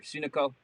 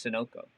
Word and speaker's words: Sunoco: equipment best stuff ever sunico sunoco sorry i just learned how to say that today by the way i'm not i'm not i'm not i'm not ashamed to say i actually don't know how to say it it's sunoco apparently gretty oh geez and